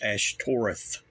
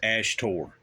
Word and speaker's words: Ashtoreth: It's Ashtoreth. You got the TH. He says Ashtor.